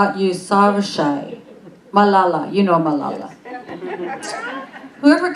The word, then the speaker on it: Yousafzai: Yousafzai, Yousafzai, Malala, you know Malala.